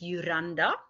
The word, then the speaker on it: Joranda: am I my name my full name is uranda it's Afrikaans the majority of people don't know how to say it properly so my students only